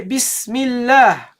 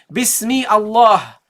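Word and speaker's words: بِسْمِ اللَّهِ: Allah, you say Bismillah. You say Bismillah. You didn't pronounce the Hamza. You don't say Bismi Allah.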